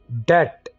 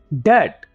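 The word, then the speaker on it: debt: हैं क्योंकि धोइए बीटी कैसे बोलें इसको ठीक है यहां पर हमने 220 को साइलेंट रखना है तो मैं ऐसे बोलेंगे डेट डेट बड़ा ही इजी तरीका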